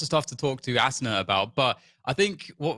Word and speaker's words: Asuna: And yeah, I mean, I don't really care how it's pronounced, but it is pronounced Asuna the Japanese way, cause I got it from, an anime.